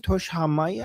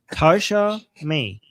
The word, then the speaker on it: Tasha May: Um, and Tosh, how do you pronounce this again? Toshaya. To what do you Thank you so much for Oh. Oh, she's saying she's I should have just read the super chat. Tasha May.